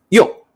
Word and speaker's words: 有: When you are responding to the teacher, you say 有. We use the fourth tone.